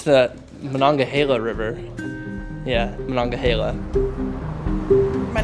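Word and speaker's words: Monongahela: The proper Lape pronunciation is Manhila. But before learning the Lape language, Jim pronounced it differently. I grew up in eastern Pennsylvania and I always heard and said uh manangahila and that's not that uncommon.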